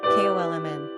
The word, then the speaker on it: Coleman: Pronunciation, Kolmn.